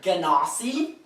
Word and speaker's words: genasi: Because Minotaur was like, it's actually pronounced Ganassi.